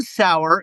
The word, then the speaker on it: Sauer: John Sauer, so am I pronouncing his name right? John Sauer.